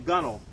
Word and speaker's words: gunwale: this edge here is called the gunnel, or gunwale. All right? It's spelled kind of weird.